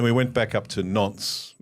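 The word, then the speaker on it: Nantes: And then we went back up to Nons, which is spelled N A N T E S, so it sounds like Nanties N.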